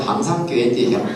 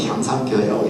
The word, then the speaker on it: 향상교회: 우리 향상교회도 경상도 사람은 항상교회인지 향상교회. 제가 엄청 노력을 많이 해서 제가 발음을 향상교회라고 이렇게 하는데요.